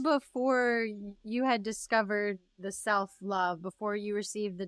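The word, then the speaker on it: CELLpH: wellness program, which is the Self Love, CELL, small p, capital H, pronounced self.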